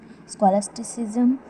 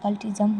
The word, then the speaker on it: scholasticism: previous video on renessa philosophy and humanism with scholasticism and aism I have pronounced the word scholasticism as cultism which is wrong so if you have not